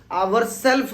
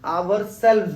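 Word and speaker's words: ourselves: बहुत सारे स्टूडेंट्स की प्रोनाउंसिएशन और स्पेलिंग भी मिस्टेक करते हैं, आवर सेल्फ नहीं बोल के आवर सेल्व्स बोलना है, यानी हम खुद।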